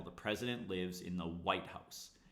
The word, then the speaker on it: White House: So every compound word, the first word is stressed, the pitch rises. On the second word, the pitch goes down and it gets secondary stress. White House. But if it's a descriptive phrase, we stress the second word stronger than the first word and the pitch rises.